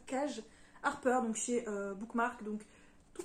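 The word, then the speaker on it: Kaje Harper: Et pour finir, j'ai lu également le troisième et dernier tome de Se Reconstruire, donc Ensemble pour toujours de Cage, apparemment on prononce ça Cage Harper, donc chez Bookmark, donc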